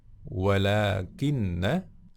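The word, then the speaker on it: وَلٰكِنَّ: Kita sekarang di topik yang kedua, walakinna, ya, ini salah satu saudaranya inna, walakinna. Di sini meskipun pendek, ya, nggak ada tanda panjangnya, dibacanya panjang, ya. Walakinna.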